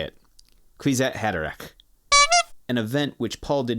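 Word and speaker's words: Kwisatz Haderach: Yeah, so it is spelled KWISATZHADRERACH. Quitsat Haderach. Arg. I'm going to go back to the previous page just to see and make sure I am set. So, Quitsat Haderach.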